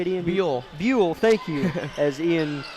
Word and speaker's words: Buell: Buell.